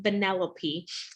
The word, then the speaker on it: Vanellope: the character and y'all i butchered her name her name is actually vanellope and it's from the